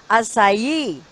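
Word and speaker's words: açaí: So it should be pronounced like acai.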